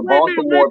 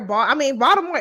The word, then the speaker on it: Baltimore: Baltimore people pronounce Baltimore as if there's a D instead of a T there. But Baltimore is not.